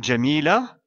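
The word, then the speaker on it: جميلة: démonstratif, et le mot jamila, qui est un prénom féminin. Ici, on s'arrête après le mot jamila, donc sa dernière lettre, le Ta marbuta, sera prononcée comme la lettre Ha.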